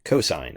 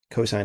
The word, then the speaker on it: cosine: coine of theta but we just write it cos theta but we say cosine of theta cosine of theta is that